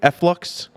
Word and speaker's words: Efflux: Did I say that correctly? Efflux? You did. Okay. That's the actual pronunciation.